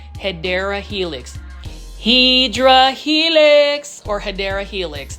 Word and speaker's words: Hedera helix: Hydra Helix, or the correct way to say it, let's do it again, right? Hedera Helix.